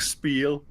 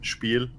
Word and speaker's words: Spiel: in Germany depends on if you're going to pronounce it like I guess like an English speaker would like spiel or as we Germans call it spiel yeah which is a